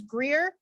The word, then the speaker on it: Greer: quick my name is greer rhymes with beer g-r-e-e-r and my